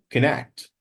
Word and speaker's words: connect: Actually, it has only one nah sound, not two. It's connect.